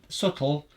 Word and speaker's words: subtle: It's subtle with a silent B, but it's there.